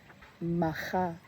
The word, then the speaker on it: Macha: Matcha is pronounced, the CH is soft as in loch. So I've been pronouncing that incorrectly. It should have been macha.